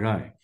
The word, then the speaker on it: Ray: Another example that I can give you is that of Renuka Rai, or Renuka Ray, however you pronounce in Bengali, we call her Renuka Rai.